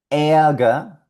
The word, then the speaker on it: Ärger: Ärger, Ärger, que significa ira o enojo.